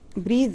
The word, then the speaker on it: breath: أنا بس عايزين نلفت نظركم ل breathe as a verb.